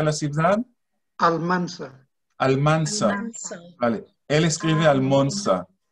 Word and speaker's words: Almansa: ¿Cómo se pronuncia la ciudad? Almansa.